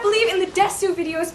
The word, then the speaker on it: Desu: not believe in the Desu videos because they are pronounced Des.